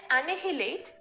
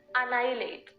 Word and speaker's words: annihilate: the right pronunciation is annihilate okay annihilate this is the way people say Elite it's actually Elite okay likewise that H is silent here and we pronounce this word as annihilate all right it s